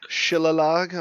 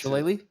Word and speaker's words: shillelagh: bonus action to cast Shillalog on my club, which makes it, Shillelagh? yeah, whatever. Shillalog. Shillelagh sounds a little better. It's Lagh. That sounds like It's Irish. G is silent. Silent. Charlotte. It's silent.